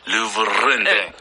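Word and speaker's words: Louvre: 루브르 박물관을 옆으로 the 예 원래 프랑스 발음 루브르인데 어렵잖아요. 이제 영화하는 사람들도 루브르가 이제 힘들기 때문에 그냥 루브루 the 하면 그냥 루 뮤지엄이라고 표현 안 하죠.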